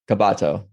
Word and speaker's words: Cabato: started recording your last name uh kabato yeah kabato yeah we're just talking about how people add